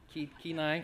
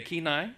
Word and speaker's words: Kenai: Did I say it right? Kai. Okay. Kenai. Right.